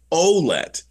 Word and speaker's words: Ouellette: Because we look at that name in Canada, and for the most, 9 times out of 10, it's a francophone pronunciation. But it was, I'm going to get this wrong, but it was either his aunt or his grandmother. Somebody contacted the team and said, by the way, it's Ouellette.